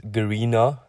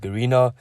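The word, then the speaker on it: Garena: limited so c limited was previously known as garina if i pronounce it correctly and it was founded in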